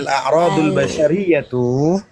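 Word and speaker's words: الأعراض البشرية: itu ada satu, ialah a'rodul sariyatu latu adi ila nafsi fi marotihim ali. Ulang dari mana Ustaz? Dari awal? Bukan, ulang yang posisi al-a'radul basyariyatu, dibacanya al-a'radul basyariyatu.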